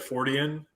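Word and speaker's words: Fortean: just thought you know if you turn that into an adjective or something then you would say his name and then just add the suffix to it so fortion i think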